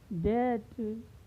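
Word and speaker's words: debt: पहले आया है तो यहाँ पर बी का उच्चारण नहीं होगा, यानी इसे क्या पढ़ा जाएगा? कॉम, थॉम, डेट, डाउट, लैम, डम।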